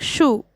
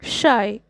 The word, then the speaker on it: Scheu: Sixth, the poet says that his name is pronounced as the word shy. Answer, when it comes to pronouncing my name, I am shy.